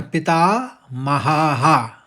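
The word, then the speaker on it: पितामहः: तथैव और च और पिता महा विसर्ग है हा का तो हाहा आएगा उच्चारण में दूसरा चरण इस तरह से बोला जाएगा तथै च पितामहा अब पहला और दूसरा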